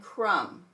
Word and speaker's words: crumb: MB, the B is silent, and we're going to hear M. Comb, climb, and crumb.